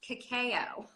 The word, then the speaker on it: cacao: I've heard this pronounced two ways okay khau pronounced cacao yeah we understand 70% or more usually with